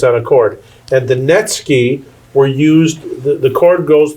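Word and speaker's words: netsuke: they are okay oh my goodness they're called netsky okay that's spelled NE t su ke vu is silent so netsky they are all carved wood and they they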